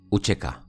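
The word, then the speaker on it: UÇK: Esta C se pronuncia como como ch Uchek.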